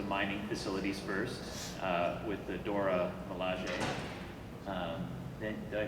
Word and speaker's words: Dora Milaje: You have to protect some of the mining facilities first with the Dora Milaje. Then, did I pronounce that right?